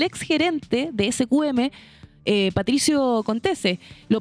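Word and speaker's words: Contesse: Ominami y el ex gerente de SQM, Patricio Contese. Lo pronuncié bien, ¿cierto?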